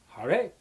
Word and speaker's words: Hare: It's pronounced Hare.